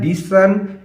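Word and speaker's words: listen: देखो बच्चों, यहाँ पर टी साइलेंट है, इसीलिए यहाँ हम इसको लिसन पढ़ रहे हैं। देखो टी का टा साउंड होता है लेकिन टा नहीं बोल रहे हैं, ली एस ई एन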